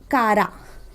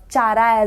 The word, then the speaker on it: Chara: Thallophyte division में आने वाले प्लांट्स के एग्जाम्पल्स हैं spirogyra, Another example is Kara. You can pronounce it Chara as well, but we can say Kara or Chara, anything.